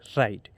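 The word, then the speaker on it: right: बाद एन डी इसमें जब किसी वर्ड में आई के बाद जी एच जी एच आए तब आई का उच्चारण आई या बड़ी ई आई होता है। तो जैसे कि आप एग्जांपल में समझिए आर आई जी एच टी इसको हम राइट पढ़ेंगे। आर आई जी एच टी राइट एस आई एस आई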